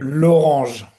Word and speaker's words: L'Orange: L'Orange. Laurent? L'Orange. On dit. In French, we will say it like this, yes. Like orange, but with a L, so l'Orange.